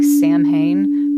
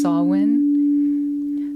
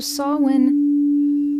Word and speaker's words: Samhain: or the Celtic holiday festival that looks like Sam Hayne pronounced sawin so sawin and a lot of the other very Earthly